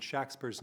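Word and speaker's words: Shakspere: two sets of spellings the lack of a middle e and Shaq Spurs name means that the first syllable would be at least today pronounced Shaq not shake this is now standard among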